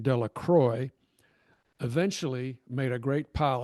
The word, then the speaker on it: Delacroix: Bobby and Harry Jones and Dickie Delacroix, the villagers pronounced this name Delacroix, eventually made a great pile of stones in